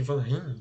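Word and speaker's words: Van Rhijn: Aquele cara, muita gente chama de Van Rijn, né? Mas é Van Rijn na pronúncia certa.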